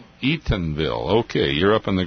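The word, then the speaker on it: Eatonville: Eagganville, Washington. How do you pronounce it, Walder? Uh, Eatenville. E O N. Eatenville.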